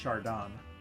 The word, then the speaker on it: Chardon: I'm kind of mad that they didn't correct her because it's pronounced Chardon.